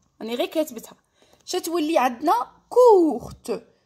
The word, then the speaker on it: courte: شتولي عندنا كورت. زدت لها الاو تاع الفيمينا. دونك كي زدت الاو تاع الفيمينا هاد لو تي وليت ننطقه كور كورت.